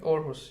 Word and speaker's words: Aarhus: Aarhus, yes.